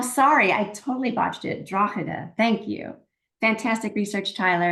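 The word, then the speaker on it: Drogheda: okay here's a question from Paul Lennon in drag Ireland I hope I said your city name correctly Paul I think that's Dr did I how do you say it Dr oh sorry I totally watched it draa thank you fantastic research Tyler and well done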